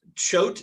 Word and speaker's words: Choate: Choate is how you pronounce it. The E is silent, and so is the A.